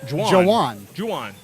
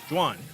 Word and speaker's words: Juwan: It wasn't the number Juan fight. It was not Juan. I was completely mistaken by that. His name is actually pronounced Jawan. Juwan.